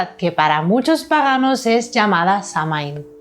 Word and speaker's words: Samhain: Samhain, pronunciado Samhain, es la palabra del gaélico irlandés que designa el mes de noviembre, mientras que en gaélico escocés, Samhain, pronunciado Samhain, designa la fiesta de All Hallows, el 1 de noviembre.